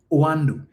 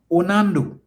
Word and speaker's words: Oando: Yet neither one of them can pronounce the name or know the name of the company, Oando. And both of them continue to say Onando.